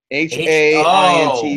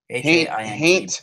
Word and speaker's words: Haint: H-A-I-N-T Blue. H-A-I-N-T Blue. Yeah, Haint or Haunt Blue. Gotcha. All right, cool. It's Haint Blue Brewery. It's Haint, not Paint? Correct, with an H.